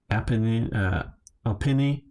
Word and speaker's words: Alpini: Uh, Alpini, that's it.